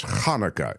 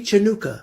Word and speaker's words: Hanukkah: spelling of Hanukkah but he says it sounds like it's Hanukah is the way you should say it right if you see the CH Hanukah no happy chanuka okay or that uh that would work too yeah now Hanukkah Hanukah or